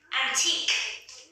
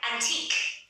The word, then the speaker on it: antique: Tiếp theo, antique. Cái chữ này lạ vậy, phải đọc là K đấy, phát âm là K nhé. Chữ que này phát âm là K. Antique.